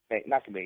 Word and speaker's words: Makabe: Trying to pronounce his name right. Makabe. Makabe, yeah.